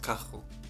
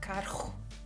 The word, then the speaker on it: carro: that we pronounce, and it's the same for double R's in Portuguese, but I still struggle with that. So how would you say car in Portuguese? Carro. See that? Carro.